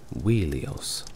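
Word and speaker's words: Ilios: troo and ilon or ilos metrical evidence from The Iliad and the Odyssey suggest that the latter was originally pronounced wheelio these names appear to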